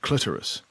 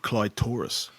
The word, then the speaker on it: clitoris: out of it is he said the word clitoris but he pronounced it cly Taurus brilliant and so for the next five years I thought that was how you pronounced he